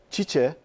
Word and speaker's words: Tite: Çiçe, Tite yazılıp Çiçe okunan beyefendi. Evet. Yani öyle yazılıp Çiçe okunuyor ya.